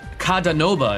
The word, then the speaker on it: Kadanoba: now the next character called cada Nova is how you say his name he is a five